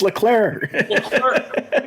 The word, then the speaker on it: Leclerc: Leclerc. I say it like a Cape Breton, bud. I say it like a Cape Breton. What were you saying, Leclerc? It's Leclerc. I'm from Sydney.